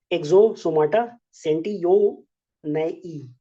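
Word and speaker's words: Exostoma sentiyonoi: एक है तुम्हारा एक्सोसोमाटा सेंटियोनेई, यही है इसका प्रोनाउंसिएशन।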